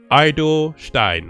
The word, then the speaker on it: Eidelstein: How do you say that? Eidelstein. Mark Eidelstein, right?